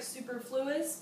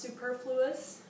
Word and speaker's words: superfluous: one is superfluous all right it looks like superfluous but it's pronounced superfluous right it's an adjective remember adjectives adjectives describe